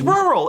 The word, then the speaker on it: rural: There's no th in it. It's rural. It's rural.